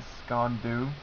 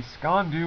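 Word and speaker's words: sgian-dubh: also had what uh I think is pronounced the scond do that's SK e n dhu um it's two words and then the jungle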